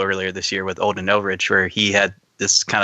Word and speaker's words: Ehrenreich: And so I think as far as and you said criticism, it's Alden Ehrenreich. Did you say Erdrich?